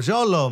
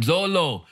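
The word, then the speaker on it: Xolo: do you pronounce that x o l o oh Zolo man Zolo now Zolo is the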